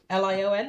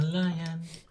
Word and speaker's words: Lion: So Bria, and her name is Lion, Lion, like the animal. Lion, like a lion.